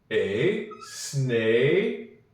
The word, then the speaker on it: snake: S-N-A, snake. I hear the K. I hope you do too. And then lastly, on snake, we have a silent E.